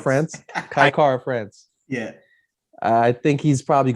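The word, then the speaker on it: Kai Kara-France: power advantage, I think how do you say Kai Cara France. France? Kai Cara France.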